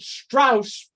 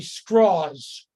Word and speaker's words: Strauss: uh Robert Strauss uh you might have pronounced it Strauss but he didn't like that he wanted to be straws Robert straws uh who among other